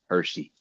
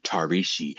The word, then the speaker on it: Tarishi: Starting in eighth grade when a classmate called me Hershey. He found it difficult to pronounce Tarishi.